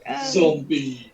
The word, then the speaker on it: Zom-B: And then I bought yesterday the first book of a 12-book series called Zombie. Yeah, Zombie. Even though it's spelled ZOM-B, not actually zombie, but it's quite a cool detail.